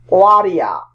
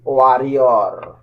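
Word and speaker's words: warrior: ওয়ারিয়া, British উচ্চারণ, Bangladeshi ওয়ারিয়র।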